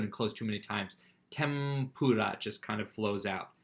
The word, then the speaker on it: tempura: Now, it's written tempura, but they'll often pronounce it tempura. Because it's easier to say an M sound before doing the P sound.